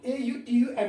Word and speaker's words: autumn: And autumn, A-U-T-U-M-N, it is autumn. N alphabet is silent. It's autumn.